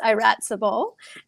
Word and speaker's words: Iratcabal: Iratcabal. It's very difficult to pronounce your name. Sorry. It's pronounced Iratcabal. You were very close.